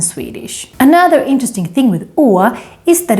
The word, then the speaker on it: Å: In order to say it right, you kind of need to do this gesture, like you are surprised.